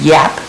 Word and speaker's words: Jap Creek: And I would just like to comment, the J in Norwegian is yap. They don't pronounce, they don't have a J. Okay. So Jap Creek. if they were a Norwegian family, it would be yap with a double P, so.